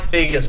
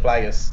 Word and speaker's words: Figgis: It's Mike Figgis, but I said Flaggis.